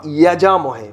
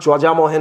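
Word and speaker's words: यजामहे: কথাটা ওম বা ওং ত্রয়ম্বকম ইয়াজামহে, YEJA, ইয়াজামহে। কথাটা যজামহে নয়, কথাটা ইয়াজামহে।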